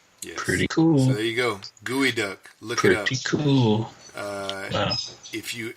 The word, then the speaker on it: geoduck: cool there you go gooey duck look at cool if you ever have and it's spelled geoduck GE ODU g.o.d uck but it's pronounced gooey duck yes you know if